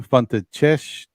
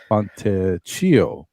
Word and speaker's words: Fontecchio: And then Italy has Simone Fontecchio or Fontecchio. Maybe it's a hard C there. 2 C's.